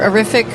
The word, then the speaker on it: Arifiq: and I'm here representing horrific today and they have estimating software that provides instant print quotes 24 7. and just so you can remember horrific rhymes with terrific thank you Joanne hi